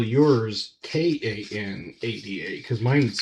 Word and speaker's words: Kanab: I'm in a little town called Kanab. Some people call it Kanab or Canab. But around here it's Kanab.